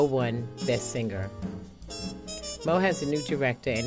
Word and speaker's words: Meaux: out of 60 plus plays and nine categories Moe won best singer Moe has a new director and is anticipating a